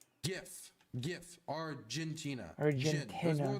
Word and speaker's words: GIF: It's a hard G like in brain. GIF.